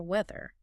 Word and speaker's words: weather: Weather. And the pronunciation. It has the three sound in the middle. Weather. That three sound can be, you know, very difficult for many people learning English.